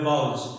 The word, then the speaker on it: vowels: अच्छा, word वाउल्स होता है, वावल नहीं होता। इसकी जो सही प्रोनाउंसिएशन है वो है वाउल्स।